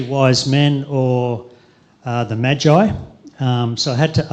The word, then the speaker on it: Magi: or the three wise men or uh the Magi um so I had to ask check with Brian earlier this week how you pronounce Magi um but apparently it's Magi um according to Brian anyway um but personally